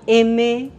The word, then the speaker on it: Aimer: En esta casa amamos a M, también cantante japonesa, cuyo nombre se escribe Aimer, como amor en francés, que lleva años en la industria del anime.